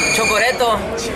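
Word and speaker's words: チョコレート: Chocoreto, es casi se dice igual, chocoreto.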